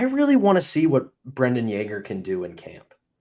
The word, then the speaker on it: Brayden: First of all, how dare you mispronounce Brayden Yager's name? Shame on you, Pat. Oh, Just Brayden. It's not Brendan, absolutely it's shame Brayden.